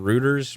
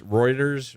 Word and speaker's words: Reuters: there's EU according to how do you say it again rooters Reuters Reuters Reuters yes I always want to say rooters man according to rooters